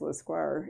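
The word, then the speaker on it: Lescroart: l-e-s-c-r-o-a-r-t it's a hard name uh and it's pronounced lasquar and he's when he was early on he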